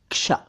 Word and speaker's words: क्ष: सभी दोस्तों को मोईन शमसी का सलाम हिंदुस्तान दोस्तों आज बात होगी इस अक्षर की यानी क्ष की ना ना ना ना ना इसे श मत कहिए यह क्ष है क्ष कोई इसे श